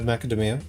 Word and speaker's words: macadamia: Alex, like, do you see a Y in the word macadamia? Didn't think so. Man, can you believe these guys trying to gaslight me about this invisible Y? Oh, it's a race. Yeah. Well, you know, Alex, like, what they say is every rule in English has an exception, except for this one. Second to last syllable.